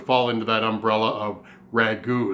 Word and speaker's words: ragout: making today is an r AG o UT ragu which difference from the are a GU which